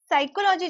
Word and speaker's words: psychology: साइकोलॉजी जब लिखा जाता है तो यहां पर पी साइलेंट है। साइकोलॉजी जब बोला जाता है, ले लिखा जाता है तो पी लिखा जाता है। लेकिन जब बोला जाता है तो पी को नहीं बोला जाता।